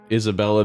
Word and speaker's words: Isabella: Hopefully you can help us out too, Isabel. Isabella. What? Just that she's saying everyone's name wrong constantly. Oh, yeah. Mary Ann. Yeah. Right. It's a lovely name, Isabel. It's Isabella.